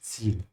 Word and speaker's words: Ziel: Again here with the Z sound, has to start with a T, yeah? Like that. Das Ziel.